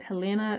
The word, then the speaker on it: Helena: I know some people say Helena, but the current Princess Eugenie has this as one of her middle names, and she pronounces it Helena, so that's what I'm going with.